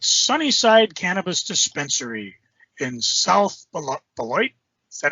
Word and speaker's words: Beloit: We stopped at Sunnyside Cannabis Dispensary in South Beloit.